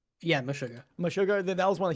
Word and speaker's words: Meshuggah: Am I pronouncing that right? Yeah, Meshuggah.